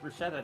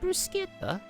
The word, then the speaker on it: bruschetta: I'm very attempted to make bruschetta now. I think it's technically pronounced bruseta.